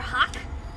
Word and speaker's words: hock: Underneath the shank is our hock. Not like the bird. It's spelled like H-O-C-K hawk, not H-A-W-K hawk. Wrong kind of bird, okay?